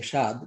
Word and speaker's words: স্বাদ: Now you could have said simply দন্তাস্ব আকার স্বাদ, but দন্তাস্ব আকার স্বাদ would be pronounced as I am saying shad, but Dantasha bofola, this is called a bofola.